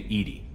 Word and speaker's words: EDI: why are you named Edie Edie is the phonetic pronunciation of EDI that is an acronym for enhanced defense intelligence are you getting along with Joker mr.